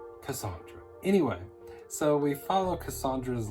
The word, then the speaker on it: Cassandra: I didn't even know that's how you pronounced her first name. I thought it was Cassandra. But no, she even says it, spelling it out in the story, Cassandra.